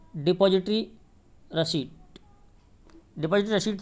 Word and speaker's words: receipt: Actual में रिसीप्ट नहीं होती है, स्पेलिंग ज़रूर ऐसी है, पी आता है बीच में, लेकिन इसको रिसीप्ट नहीं बोलते बल्कि रिसीट बोलते हैं।